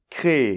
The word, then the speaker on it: créée: qu’on n’entend pas : CRÉÉE . Ça se prononce exactement pareil que l’infinitif.